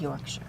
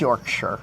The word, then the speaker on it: Yorkshire: So you do know it's pronounced Yorkshire. I know it's pronounced Okay. Yorkshire. Okay. Like, I mean, like Worcestershire.